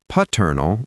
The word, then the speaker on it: paternal: Paternal relates to your father's side. So the pronunciation is maternal. The stress is on the second syllable, maternal. Maternal. And paternal. Again, stress on the second syllable.